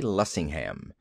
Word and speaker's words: Lessingham: penned Falstaff with nobody else in mind but Sidney J. Lessingham. And no accent on the ham, please.